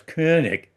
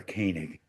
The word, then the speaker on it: Koenig: correctly, it's of course Koenig. But if you're going to mispronounce it, which I do anyway, I prefer Koenig.